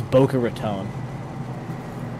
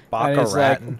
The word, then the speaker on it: Boca Raton: By the way, half of the video is him trying to pronounce Boca Raton. That's not even a hard one. Baca Raton.